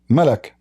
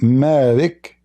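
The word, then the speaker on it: ملك: Malak, not Malik. Malak. Alright? Al-Anbari say the same. Malak Yawmiddin without letter Alif. At-Tirmidhi, Abu Dawood, Al-Anbari, and Anas, they say that the surah used to be pronounced as Malik. This is a different one. You see? Look here. Here is different from this one. Malik mean honor. Malak mean an angel.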